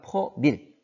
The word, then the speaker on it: 퍼밀: 그리고 퍼센트가 아니라 퍼밀. 100분율이 아니라 이걸 1000분율이라고 해요. 단위는 퍼밀이라고 읽습니다.